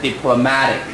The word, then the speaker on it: diplomatic: 然后回到上面的外交的，移到 mad 上面，所以 we say diplomatic. Thank you. 但是如果是外交变成第二个音节 we say diplomacy. 呀，所以这个字在念的时候呢，就刚好是一个是第一个音节，一个是第二音节，一个是第三音节，可以吗？再确定一次，外交官 diplomat，外交手段 diplomacy， and if it's about foreign affairs diplomatic.